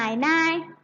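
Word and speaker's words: 奶奶: นั่น เอง นะ คะ ออก เสียง ว่า นาย นาย นาย นาย นัก เรียน เรา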